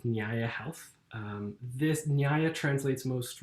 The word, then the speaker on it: Nyaya: be hard to pronounce often people would say naya naya is means new nyaya means justice so it was this